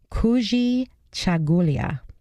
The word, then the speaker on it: Kujichagulia: this one's great this word in Swahili is pronounced Kujichagulia the third is collective work and responsibility and